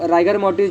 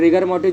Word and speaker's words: rigor mortis: Okay, तो राइगर मोर्टिस जो है या फिर रिगर मोर्टिस जो भी कुछ आप प्रोनाउंस करो, तो नॉर्मली हम राइगर मोर्टिस stiffening of muscle particularly pronounce करते हैं.